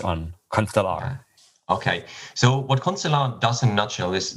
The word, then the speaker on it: Constellar: is it ConstellR or Constellar, or how do you pronounce it? Whatever you like it to be, but it's Constellar. That's at least what we say.